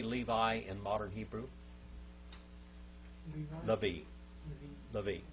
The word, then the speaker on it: Levi: Levi. Levi. How do you say it in biblical Hebrew? Louis.